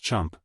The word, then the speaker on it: Champ: I'm Champ. That's pronounced chump, he whistled nastily.